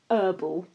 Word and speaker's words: herbal: for me is um herbal I just don't know why they do that it's just so stupid why are you doing it just stop there's CLE silent h there's clearly a H there to stop doing it I don't know why they do that but um probably they heard like a French person say it once and